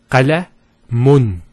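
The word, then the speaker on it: قلم: If we put two dhammas, it will be pronounced as qalamun. Qalamun. So notice the noon sound at the end. It's pronounced as the following. It's the dhamma at the end, followed by, let's take this off, because we're going to put a noon at the end. A noon. With a sukoon. So qalamun. That's how it's pronounced, and this is how it's written.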